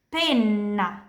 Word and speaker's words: penna: Kapan kita punya huruf ganda, pronunciasinya begini. Petto. Dada. Petto. Palla. Palla. Bola. Penna. Penna. Bulu ayam atau pulpen. Jadi di bahasa Italia, huruf ganda itu penting sekali. Oke?